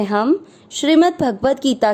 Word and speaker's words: श्री: ओम श्री, श्री की मात्रा बड़ी है, लंबा खींचना है।